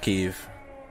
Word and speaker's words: Kiev: they're awake now it is pronounced kiev 100 pronounced kiev oh i forgot my